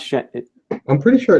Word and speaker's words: Shenzhen: How do you pronounce Shenzhen?